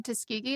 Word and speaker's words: Tuskegee: Oh, she went to Tuskegee.